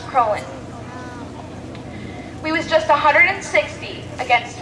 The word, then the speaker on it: Croghan: Most people around here think that the name is Croghan. It is actually pronounced Crowland.